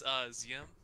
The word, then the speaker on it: ZM: is, can you tell us how to properly pronounce ZM? It is Ziam.